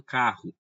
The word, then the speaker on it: carro: Pessoal, quantas letras temos em carro? Temos o quê? 5 letras, não é? C-A-R-R-O. 5 letras. Agora, pessoal, quantos sons temos? Temos o quê? O som do C, o som do A, o som do R, do Ré e o som do O. Carro. Temos 4 sons.